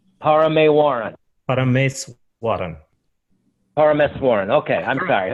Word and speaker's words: Parameswaran: Oh, phonetically, it's exactly as it is spelled. So it's Parameswaran. Parameswaran.